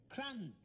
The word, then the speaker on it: crumb: C-R-U-M. Well, what's that? Crumb. Crumb? What you get in bed when you've been eating biscuits? You don't spell it like that. Can't you? There's a B on the end of it.